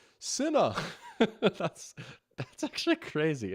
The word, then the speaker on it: Sinnoh: To add to the Pokemon mispronunciations, Doc, I will say you keep pronouncing Sinnoh like Sinnoh. It's Sinnoh.